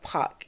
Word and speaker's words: Puch: chilling case of Robbleto Puck. I think I'm saying it right. P U C H is how his name is pronounced. Robto Puck.